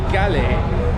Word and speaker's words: Galle: for Speed all right guys welcome to gal that is actually how it is pronounced because I heard the bus driver saying